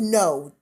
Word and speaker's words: Ngo: black folks have enough going on it's it's pronounced no okay andy no thank you molly thank you molly see molly